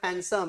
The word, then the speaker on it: handsome: that answer perfectly correct which letter is silent the word handsome handsome d silent Last half of my